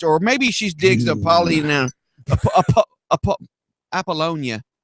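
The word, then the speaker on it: Apollonia: maybe she's digs apal appollonia that's how you say it okay aalona was a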